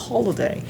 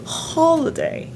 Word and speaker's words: holiday: OK, il faut bien prononcer happy holiday. Les deux H sont aspirées. Happy holiday.